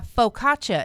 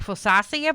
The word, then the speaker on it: focaccia: But you got sourdough and wheat, and I focaccia is what I had to see how they pronounced.